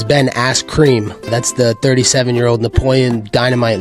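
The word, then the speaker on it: Ben Askren: pillow hands who's that you said it wrong it's it's Ben ass cream that's the 37-year-old Napoleon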